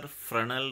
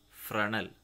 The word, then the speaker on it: Fresnel: Now another category of line concentrating type collector is linear Fresnel reflector type. Linear Fresnel. It is pronounced as Fresnel, not Fresnel.